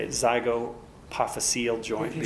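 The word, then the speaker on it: zygapophyseal: It's also called, I don't even want to say it, zygopophyseal joint. If you say it, you've got to spell it. Z-Y-G-O-P-Y-P-H-Y-C-E or S-E-A-L, zygopophyseal joint or Z joint.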